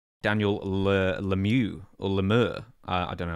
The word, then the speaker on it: Lemieux: Daniel Lemieux, or Lemur. I don't know how to pronounce it, sorry.